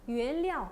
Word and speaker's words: 原料: 료 발음은 보통 있잖아요. 량으로 나요. 료 발음은. 무료하다도 그랬잖아요. 우려. 그랬잖아요. 우리 무료하다, 심심하다 할 때도. 그렇죠. 네, 그래서 原料 어떻게 해요?